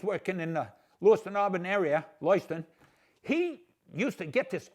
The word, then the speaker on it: Lewiston: I was working at CMVTI when you were running Lewiston, Maine, and it's pronounced Lewiston, just for anybody that's interested.